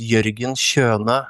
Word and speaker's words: Jørgen Kjønø: My name is actually pronounced Jørgen Kjønø.